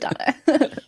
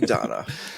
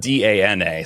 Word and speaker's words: Dana: Tears of Donna. Tears of Donna. I was like, well, it's spelled D A N A, so I always thought it was Dana until I played it.